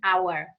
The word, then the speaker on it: hour: an a why an hour because the a is starboard is Island right we say the H is silent very good so tell